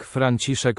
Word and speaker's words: Franciszek: Fryderyk Franciszek Chopin. Franciszek. It's not voiced.